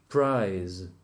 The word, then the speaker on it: prize: Prize. Price. The Spanish people don't know how to say the Z at the end of the words, so they will all say price for both.